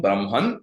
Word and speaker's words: Brahma: Brahma is different from Brahman Brahman is the Supreme Being Brahma with the dega long syllable at the end is the god of